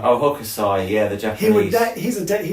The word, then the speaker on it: Hokusai: So anyway, and we were talking last night with Emma that Hokusai, how do you pronounce his name? Oh, Hokusai, yeah, the Japanese.